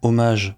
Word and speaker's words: hommage: Oui, hommage prononcé à la française parce que c'est un mot d'origine française.